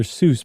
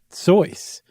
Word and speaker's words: Seuss: keep saying Dr soyce everybody knows him as Dr Seuss but apparently the correct pronunciation is soys and and the guy